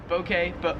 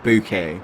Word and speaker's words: bokeh: back to the video 46 is bokeh so I say bokeh like a soft o bokeh here in Australia they would pronounce it bouqu a bouquet of flowers flowers bouquet bouquet 47